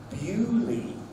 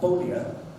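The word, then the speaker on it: Beaulieu: Then we have Worcester, Leicester, Bicester, Omar, and Bewley. Bewley. Not Bowlia. Bewley.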